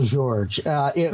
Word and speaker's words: Jorge: Say the last name again. Miguel George. It's spelled how you would spell Jorge.